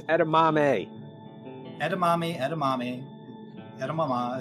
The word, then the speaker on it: edamame: you know what oh i hope they have edunami this time it's edamame edamame edamame edamame it's fine you know what